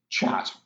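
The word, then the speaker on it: kyat: myanmar currency which is chat that's how it's pronounced but it's spelled k-y-a-t the three money-changing booths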